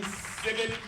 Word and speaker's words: Sibbett: The lovely Miss Jane Sibbett. She told me to pronounce it like a frog.